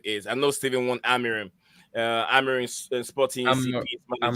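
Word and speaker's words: Amorim: You said Almiron. No, Amirim. See, that's when Amirim. you said it right. Before that, you said Almiron, which is why it confused me on what I was saying.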